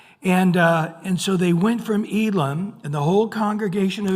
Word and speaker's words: Elim: It'll actually say Elim. So the E has an A sound and the I has an E sound, Elim.